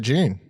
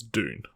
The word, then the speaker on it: Dune: be here to talk about june no it's dune june i don't but they never say it during the film so who knows how it's pronounced really yeah one dude does who's my dune right right old man